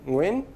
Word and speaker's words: Nguyen: of sing and also at the beginning of the Vietnamese name Nguyen, if you pronounce it right. But I didn't. But at least I pronounced the velar nasal part right.